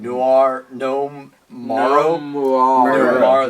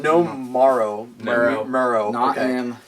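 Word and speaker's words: Noam Murro: a rumored director for Aquaman uh I can't pronounce his name Noir n Mar this is uh no marrow thank you we're all trying what did he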